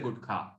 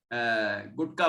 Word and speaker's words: गुटखा: अब आगे, धूम्रपान गुटखा सब छोड़ो, धूम्रपान गुटखा सही शब्द है गुटखा, वैसे गुटका बोल देते हैं, गुटका, लेकिन वो शुद्ध उच्चारण है गुटखा।